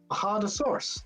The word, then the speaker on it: Bajadasaurus: Hardosaurus. Hodosaurus. Yeah, Bahadasaurus. Hardosaurus. Or just call it Spanish. Bajadasaurus. Oh, Whatever you that's racist because in Spanish, the J's sound like an H.